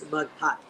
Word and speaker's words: Maghat: Yeah, so it's Maghat. So in Maghat. Yeah. Yeah, in Filipino, the emphasis is on the second syllable or every other syllable.